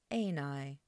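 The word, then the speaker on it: εἶναι: It's got fixed accent on the second to last syllable there, and we get ἐναι, and that simply means to be.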